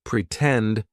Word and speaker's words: pretend: Lots of times if the stressed syllable of a word starts with T, we are also going to use the true T sound. Pretend. For example, in the word pretend, the stress syllable starts with t.